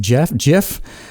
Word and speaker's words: GIF: The word, the extension GIF, GIF, is pronounced GIF. Like the peanut butter, Steve Wilhite invented it,